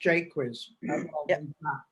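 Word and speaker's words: Jaques: it with tears okay jake quiz will be pronounced j quiz not the french ways but what said jaquise did he not moralize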